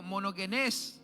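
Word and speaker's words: μονογενής: La palabra unigénito en el griego monogenés se pronuncia.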